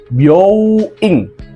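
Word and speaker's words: byōin: Hati-hati nih dengan pelafalannya. Nah, di sini huruf O-nya panjang ya, byoing, yang artinya rumah sakit. Jangan dibaca pendek, misalnya seperti byoing. Nah, karena kalau byoing artinya berubah menjadi salon kecantikan.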